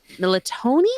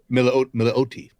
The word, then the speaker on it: Milioti: And Kristen Militoni. I think that's how you pronounce her last name. Militonia. Milioti.